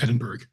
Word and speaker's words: Edinburgh: And the lodge of, is it Edinburgh or how would you say that, Robert? Yeah, it would be pronounced Edinburgh.